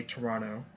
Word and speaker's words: Toronto: people from outside of Toronto should say I mean my Southern disposition makes me want to say Toronto without the T Toronto um but I can